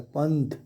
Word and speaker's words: पंथ: अब पंथ, पंथ ऐसे लिखा जाता है, लेकिन यहाँ जो ये बिंदु है इसका उच्चारण न की तरह होता है, पंथ।